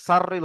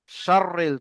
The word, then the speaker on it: شر: যেমন এই সিনটাকে আপনারা সিন পড়ে ফেলছেন, সাররিল পড়ছেন, সাররিল হবে না, শাররিল, তালবেশ এর মতো উচ্চারণ করতে হবে। শাররিল, মিন শাররিল ওয়াসওয়াসিল খান্নাস।